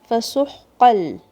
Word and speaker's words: فَسُحْقًا: Sin, ha from the middle of your throat. Don't shake this ha. فَسُحْقًا.